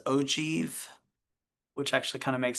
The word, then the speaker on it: ogive: is what's called this ogiv. I just I just found out that the way you pronounce that is ojieve, which actually kind of makes sense.